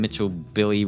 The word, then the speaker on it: Mitchell Billy: I'm Mitchell Billy, rhymes with chicken schnitzel.